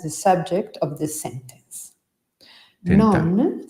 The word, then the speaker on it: tentar: Tentar non nuoce, magari dici di sì.